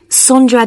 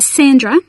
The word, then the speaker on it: Sondra: your name was again sondra de costa is that sandra no it's spelt with an o so that's s-o-n-d-r-a and